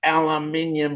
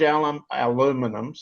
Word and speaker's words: aluminum: It has large aluminium sheet plants, large aluminum, give it its Canadian and American pronunciation, aluminum production for auto